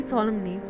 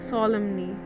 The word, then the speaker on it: solemnly: Before I realize it, Kama has his hand on my cheek and is staring at me solemnly, solemnly. Solemnly, solemnly, right? N is silent.